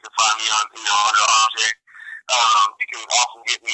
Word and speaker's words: Arjay: And fans, just so you know, it is Arjay, and it's spelled Arjay.